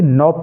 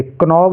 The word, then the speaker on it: knob: KNOB इसको only नॉब पढ़ेंगे, कनॉब नहीं पढ़ेंगे, ओनली नॉब, क्योंकि इनमें के साइलेंट है।